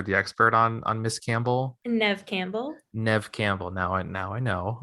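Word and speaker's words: Neve Campbell: Nev Campbell.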